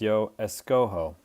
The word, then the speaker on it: escojo: In the yo form, it's pronounced yo escojo, and we change the G to a J because of the way that the J is pronounced over the way the G is pronounced.